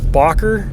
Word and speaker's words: Bakker: his name is pronounced bocker it looks like backer but with 2ks so yeah some foreign